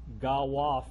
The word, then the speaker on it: Galois: So there's another number system that's related to the binary number system called Galois Field 2. Galois is a French mathematician. Anybody speak French? Am I pronouncing that properly?